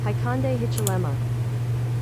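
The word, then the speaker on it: Hakainde Hichilema: I anticipated pronunciation being an issue, so I have it on this thing. Haikande Hichilema.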